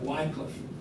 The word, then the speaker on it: Wycliffe: In America, we often call it Wycliffe, but the British pronunciation, the correct pronunciation, the proper pronunciation is Wycliffe.